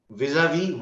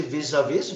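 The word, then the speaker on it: vis-à-vis: rdis were buying okay vis-a-vis what dao we are selling we v huh so we don't say vis-a-vis we s is silent v yes there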